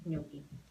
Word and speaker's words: gnocchi: And gnocchi.